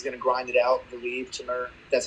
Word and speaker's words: Timur: Timur, that's how you pronounce his name.